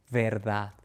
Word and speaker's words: verdad: Nada, pedir, verdad.